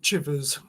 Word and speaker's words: Chivers: It is Shivers. Yes. With a ch. With a ch. Um, he would probably pronounce it Chivers.